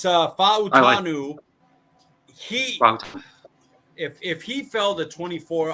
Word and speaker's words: Fautanu: It's Fautanu.